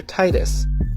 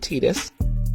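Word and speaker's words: Tidus: was a place that the main character Titus I refused to pronounce it tetus was from that after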